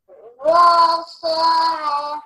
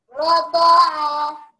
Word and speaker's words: رضاعة: Rasa'a. No, it's not so. It has a dot. رضاعة.